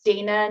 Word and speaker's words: Dayna: So Dayna is Dayna, and is. So Dayna, some people would say, but that's kind of how it's spelled. So that's like just so you have like daytime, and then, like the land of knees.